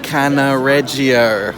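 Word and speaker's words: Cannaregio: so i've just walked two i finally can pronounce it properly canna reggio that's the district that we're in at the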